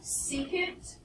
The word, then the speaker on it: secant: or not this is called secant long e and tangent no it's